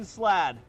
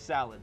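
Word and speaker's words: slaad: have Caesar, the green slad. The Caesar slad. Uh it's spelled S L A A D, but when I first saw it, it looked like salad. So, he's a Caesar salad now.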